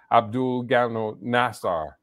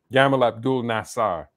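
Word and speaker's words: Gamal Abdel Nasser: since the days of abdul gano nassar i think i mispronounced the name yamal abdul nassar he was a pan-african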